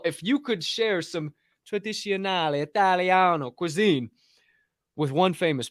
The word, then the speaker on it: tradizionale: If I could share Italian food, some Italiano food, some I don't know what the word for tradizionale.